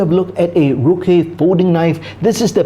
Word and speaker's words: Ruike: Now the Anglo-Saxon version, it's probably more like Ruike or Reike, because the Chinese pronunciation is Ruike, which means strength and toughness or sharpness, which makes sense for the knife brand. So Ruike would be the correct